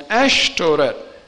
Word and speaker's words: Ashtoret: all through the old testament the asherah hebrew pronunciation would be ash a-s-h-e-r-a-h and ashtoret ash t-o-r-e-t ashteret translated in the king james